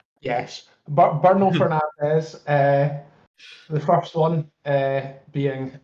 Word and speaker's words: Bruno: Bruno Fernandes getting 2, or as some people I've seen pronounce it, Burno. Yes, Bruno Fernandes.